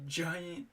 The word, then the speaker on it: Gila: I watched the Giant Gila or Gia Monster. That Gia is how they say it. I've always said Gila myself.